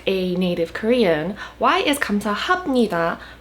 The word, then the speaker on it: 감사합니다: This episode is going to be another pronunciation video explaining why 감사합니다 is pronounced as 합니다 and a bunch of other words that might have confused you in a similar way.